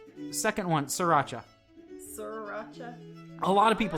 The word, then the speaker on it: Sriracha: So, sriracha ketchup.